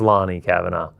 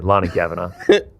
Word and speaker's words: Lani Kavanagh: It's it's pronounced Lonnie Kavanaaugh. Well, that's fine, but we're still going loner. Yeah. Yeah. Yeah. Yeah. Just wanted to point that out. Yeah. Lonnie Kavanaaugh.